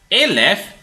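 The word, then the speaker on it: אֶלֶף: Pronounced as Aleph, Strong's Hebrew word 504, it can mean those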